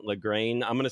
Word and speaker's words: Lagrein: Lagrein. Lagrein. I'm going to say Lagrein. I actually have zero idea how to pronounce this.